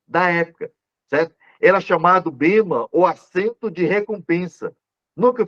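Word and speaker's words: βῆμα: Então, no grego, é a pronúncia bema, certo? Entenda bem, bema.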